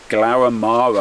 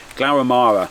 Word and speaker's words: Glaramara: acquainted with going up and down glowamara I keep I keep pronounce that incorrectly glauramara it's it's one of